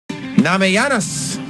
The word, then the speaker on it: Namajunas: Namajunas.